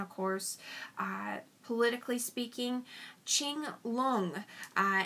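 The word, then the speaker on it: Qianlong: course uh politically speaking Ching long and that's q-i-a-n-l-o-n-g so Ching lung I worked at uniting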